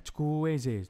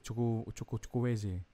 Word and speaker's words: Chukwueze: Ya kan betulnya bacanya ini kan? Chukwueze. Chukwueze.